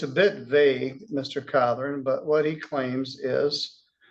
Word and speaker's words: Cawthorn: Cawthorn.